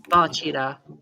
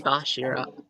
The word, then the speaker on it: Bachira: It's Bachira or Bashira. Mostly Bashira.